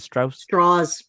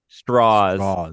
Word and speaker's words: Strauss: Is it Strauss? Straws. It is Strauss, but he made a point of pronouncing it straws because he wanted to sound American and Southern.